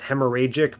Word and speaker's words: hemorrhagic: I know it's not I know the H is silent here it's hemorragic but this is like hemorrhagic it's just a really